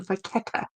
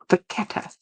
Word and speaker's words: Vachetta: Thank you, Vachetta. Yeah, Vachetta. I have to remember that. Pronounce it with a K sound.